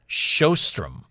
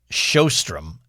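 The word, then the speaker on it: Sjöström: No, I think the J takes on an H sound. Sjostrom.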